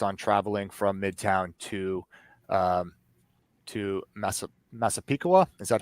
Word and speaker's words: Massapequa: And then and Bartholomew was her last known position, just based on traveling from Midtown to Massapequa. Is that how we pronounce it? Massapequa Park. Yeah. Massapequa Park.